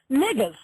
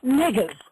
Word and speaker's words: Negus: But the word is spelled N-E-G-U-S, but it's pronounced niggas. That's how you pronounce it, niggas.